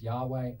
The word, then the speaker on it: Yahweh: the page they're pronounced yahweh adonai and they're two hebrew words from the bible and yahweh is the